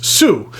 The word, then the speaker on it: Hsu: And then it has a logo on it, which is the Chinese symbols for the family name behind the brand, which is Su, HSU. I can pronounce that one.